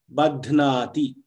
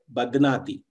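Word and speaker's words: बध्नाति: Now, if I suppose say Badhnati, the teacher will call me and say, you have not pronounced it properly, why don't you stress on the breath on the dhakara to make it a mahaprana.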